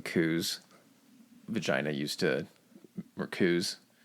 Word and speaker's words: coup: When you keep saying coups, vagina used to... or coups. Oh. It sounds like that. We're talking about coups. A lot of coups. I want to pronounce the P in coup so bad.